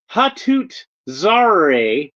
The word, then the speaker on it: Hatut Zeraze: being black panther and this is hatut Zar that's how I heard it pronounced in one of the